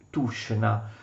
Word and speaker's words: Tushino: Ecco, si scrive così, ma si legge Tushna.